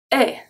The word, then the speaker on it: est: Est. Est. So E-S-T make the sound est.